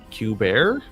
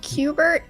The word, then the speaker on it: Cubert: lair, let alone one named Q-Bear. I think it's pronounced Cubert, actually.